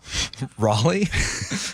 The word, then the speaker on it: Raleigh: Raleigh, not a household name in the O'Neal home.